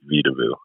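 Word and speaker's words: Vedauwoo: is a state park called vidavu it's actually a native american word which you know loosely translates to garden of the earth uh spelled differently um v-e-d-a-u-w-o instead of how we we did it phonetically for the brand but to be frank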